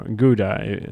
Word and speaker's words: Gouda: Ah, Gouda country. Yes, indeed. Or Gouda, as many Americans would pronounce it, I think.